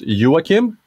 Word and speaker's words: Joakim: well first off my my name in Swedish it's actually pronounced Joachim but it's uh you know you did a pretty good job uh English speakers uh native English speakers are even more difficulty understanding The The J uh but uh yeah